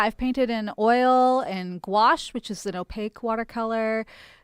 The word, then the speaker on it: gouache: French word. So obviously pronounced as though many letters don't exist.